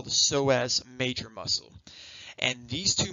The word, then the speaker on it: psoas: Ilio, and then psoas is spelled with a silent P.